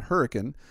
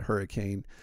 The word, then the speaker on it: Hurricane: in a town called hurricane it's spelled like hurricane but if you come to West Virginia and you pronounce it hurricane then we know you're not from around here but I actually to